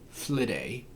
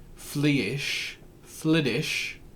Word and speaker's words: Flidais: So, I'm speaking about FLIDAIS, FLIDAI, FLIDIsh. Pick a pronunciation and a spelling because she has many.